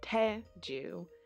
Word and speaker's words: Ted Joo: let me rest but it's Ted Joo with the emphasis on the first syllable not that anybody really